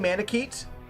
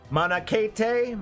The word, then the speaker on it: Manakete: Manakete? What did I say? Manakete? I read it like Japanese. Manakete? Manakete would have been Japanese pronunciation, I think.